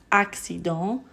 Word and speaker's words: accident: Ce qui fait changer les sons, c'est la typologie des voyelles qu'on rencontre après la C. S'il y a EI, alors on prononce accident, accéléré. Si après il y a AOU, on prononce de façon dure, occasion, accusatif, occupé.